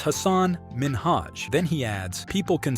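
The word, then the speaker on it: Hasan Minhaj: Is because everyone that says your name says Hassan Minaj. Yeah. But the real way you pronounce it, and this is a big deal cuz my parents are here. It's Hassan Minhaj.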